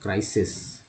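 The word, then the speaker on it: crisis: संकट को बोलते हैं क्राइसिस, क्राइसिस। पहला आई जो है आई के रूप में इस्तेमाल हुआ, दूसरा आई जो है वो ई के रूप में इस्तेमाल हुआ उच्चारण में, क्राइसिस।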